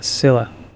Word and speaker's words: Scylla: The Scylla. It finished up beached at the entrance to the harbor. Well, the Scylla. They said it for me. Now I know how it's pronounced.